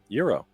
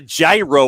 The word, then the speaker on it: gyro: How do you pronounce it, John? Euro. Do you? I do. Okay. It's not a gyro or nothing.